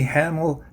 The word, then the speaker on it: Hahnel: Okay, Hahnel, rhymes with Hahnel.